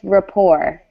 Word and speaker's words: rapport: for me rapper close we actually don't really pronounce the T so it's just rapport Rick poor good excellent